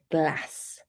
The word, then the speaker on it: glass: There's also glass: glass in the South and in the north glass.